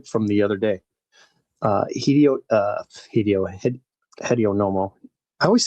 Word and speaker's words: Hideo: I uh for from the other day uh Hideio uh Hideio Hideono. I always said Hedonomo. I think that's how you pronounce that. It's more of a hi like right, not a he.